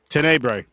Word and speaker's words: Tenebre: How do you pronounce this? Um, title, Trevor. Tbre. Tenebre.